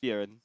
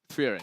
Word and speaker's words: Frieren: Frieren. Frieren. Okay. It's like fear, run.